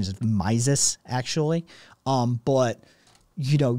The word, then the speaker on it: Mises: von then i think i think the correct pronunciation is mises actually um but you know yeah and and